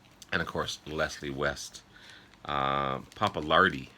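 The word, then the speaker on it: Pappalardi: uh poppaland um or papa lard and of course leslie west papa lardy sorry i was pronouncing that one wrong um so leslie west on lead in rhythm guitar felix papalardi on bass keyboards and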